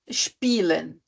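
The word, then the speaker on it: spielen: I com o e quando primeiro vem o i e depois vem o e tá nesse caso a gente também fala isso puxadinho só que aquele e ele não é pronunciado É como se fossem dois is vou dar o exemplo do verbo do do verbo h spen tá spen s i e l e n Esse i e que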